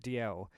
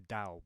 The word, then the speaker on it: Dalziel: DL is how you pronounce the channel name, and that is my real name. I'm DL. Which is why it weirds me out when people shorten my name to Dal, because my name isn't pronounced Dalziel.